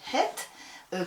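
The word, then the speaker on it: את: Alors ici, le Vav, il est accroché à het, ça se dit het, qui est un accusatif, c'est-à-dire en fait, le het, il est placé pour montrer le COD.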